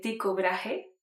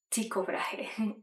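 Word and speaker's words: Tycho Brahe: Su nombre se pronuncia realmente Ticobraje. Ticobraje.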